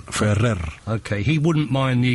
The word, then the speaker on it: Ferrer: I mean I mean we we we say ibraim F right yeah was more the r it's more strong fer okay he wouldn't mind